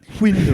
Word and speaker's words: Windham: Say it right. Windom.